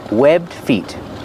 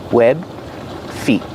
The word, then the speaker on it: webbed feet: Pronunciation, webbed feet. You don't really hear the D if you link the sounds together because it's a stop D. Webbed feet.